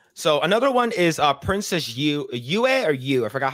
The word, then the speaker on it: Yue: So another one is Princess Yue. I forgot how you pronounce her name. I think it's Yu. Yeah, Princess Yue.